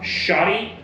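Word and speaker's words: Schottky: for different applications um shoty be careful how you pronounce this one so s c h o TT k y shoddy so don't substitute the O for I um xener diodes um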